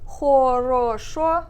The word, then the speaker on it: хорошо: So here, instead of хорошо, I say хорошо.